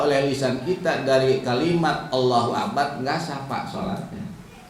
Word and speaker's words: Allahu Akbar: lisan kita dari kalimat Allahu akbar, nggak sah pak sholatnya. Misalnya gini tak, Allah akbar, yang hilang huruf apa? U-nya itu nggak sah.